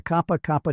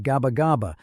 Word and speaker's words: Gabagaba: route through the mountains, the Kapa Kapa trail, named after the coastal village of Gabagaba, which American soldiers consistently mispronounced. Most of the 32nd division